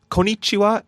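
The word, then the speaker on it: こんにちは: want to say but there's a difference between konichiwa and konichiwa you want to hold the n in there because uh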